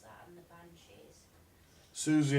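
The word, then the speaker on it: Siouxsie: Susie and the Banshees. Yeah, right, it's spelt weird, it's got an X in it.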